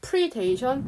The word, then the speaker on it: predation: 그러니까 predation은 포식이고 또 predator라고 읽어야 되고 또 이거 발음이 달라요. predation, predator.